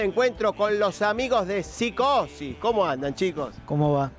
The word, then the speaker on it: Psicosis: iba a presentar digo la p se pronuncia o no se pronuncia Eh sí se pronuncia cómo sería correctamente eh No en sí no no psicosis psicosis sí del 94 más o